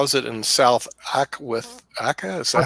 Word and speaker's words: Aceh: How is it in South Aka? Is that how you pronounce it? South Asia, I think. South Asia. Aceh is the province in Indonesia.